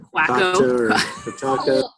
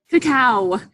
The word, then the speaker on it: cacao: It's like Quacko. Cacao. Cacao.